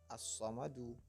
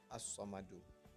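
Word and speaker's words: الصمد: Selanjutnya pada ayat 2, yaitu Allahus Samad, aslinya as-samadu. Tapi karena hukumnya adalah qalqalah kubra, maka dibacanya as-samad, bukan as-samadu.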